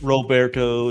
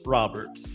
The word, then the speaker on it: Roberts: you know so it's it's not Roberto it's not Robert it's Roberts you know so I